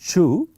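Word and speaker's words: Chooz: Um, and in particular, I'm going to highlight the result of the Chu experiment. It's written ch H O O Z, but it's pronounced Chu.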